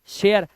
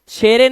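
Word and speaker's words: share: हमारा कह रहा है जब किसी वर्ड के लास्ट में ई आए तो ई का उच्चारण नहीं करते अभी बताया था हर एक वर्ड के लास्ट में ई आया हुआ है उसे साइलेंट रखना है किसे साइलेंट रखना है हमें ई को तो इसे हम पढ़ेंगे लाइक लाइफ शेयर शेरे नहीं मिके नहीं पढ़ना है माइक इ भूल जाओ बाइक बिके मत कर देना बिके फटे फटे नहीं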